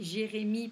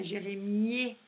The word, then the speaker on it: Jérémie: La plupart du temps, le E à la fin, on ne le prononce pas. Donc ça fait Jérémie, pas Jérémier.